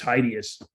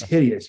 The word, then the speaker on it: hideous: one day I said I think that's just heideous and like and I was like what it's hideous you don't know how to say the word and I'm